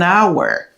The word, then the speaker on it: hour: Nous gagnons an hour. Really? L'aile pas prononcé.